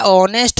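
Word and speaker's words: honest: तो जो मेरा ऑनेस्ट होता है तो ये एच मेरा क्या है? साइलेंट है। तो ध्वनि किसकी आ रही है? ओ की।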